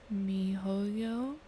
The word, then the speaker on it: miHoYo: game developed by the company mihoyo niholio me hoyo mihoyo that's going to be m i h o y o it is a genre